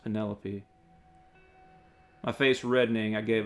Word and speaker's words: Penelope: you pronounce her name pentelope why you're not pronouncing her name right do you realize that you're saying penne like the pasta and lope like a dog running across a field lope he gave me